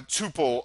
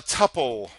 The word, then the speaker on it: tuple: much debated word here a tuple a tuple data data uh potato poata Hakuna Matata I mean right Tuple Tuple I don't care how you say it you can say it either way and it's right and I'll probably throughout